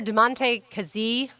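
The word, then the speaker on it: Damontae Kazee: After DeMonte Kazee, I believe is how you say his name.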